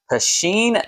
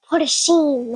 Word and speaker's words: Pusheen: And in this video, we're going to be taking a look at Pusheen the Cat Purrfect Pick Card Game. You're not saying it right. It's Pusheen.